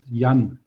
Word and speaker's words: Jan: The name is pronounced Jan.